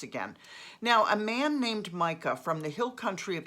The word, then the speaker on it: Micah: learn about micah that's m-i-c-a-h now i've heard it pronounced mika i have a friend who's named their son mika but most people i hear pronounce it micah so here we go